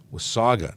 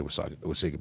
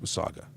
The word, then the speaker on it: Wasaga: thank you very much John was Saga not with Sega but so many people say Wasaga Beach this was Saga I appreciate you I